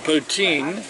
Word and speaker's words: poutine: and as as amanda says she's getting the poutine thank you thank the proper pronunciation all right are we ready amanda says